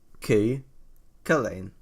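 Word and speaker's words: Cú Chulainn: Wait, so it's just Cook Lane. It's Cucullin.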